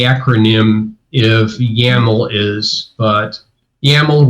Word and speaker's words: YAML: So I think I'm trying to remember what the acronym of YAML is, but YAML, which rhymes with camel, is an acronym that means yet another markup language.